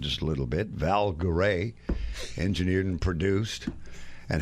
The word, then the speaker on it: Garay: together here in just a little bit val goray engineered and produced and how is it pronounced in spain and uh in spanish is pronounced garai garai yeah my grandfather was born in santander spain